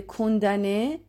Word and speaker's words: condamné: دوستان تو فعل condamné ام تلفظ نمیشه. به این موضوع دقت کنید.